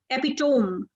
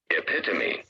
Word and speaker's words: epitome: you A lot of people describe it as epitome which is a wrong pronunciation of this but let me just tell you this is pronounced this way epitomy epitomy it is is not pronounced as epitome